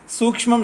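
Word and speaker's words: सूक्ष्मम्: नाम कारणम सूक्ष्मम अस्ति सूक्ष्म शब्द नहीं बोल आप उसका उच्चारण नहीं कर रहे हैं। सूक्ष्मम शब्द है।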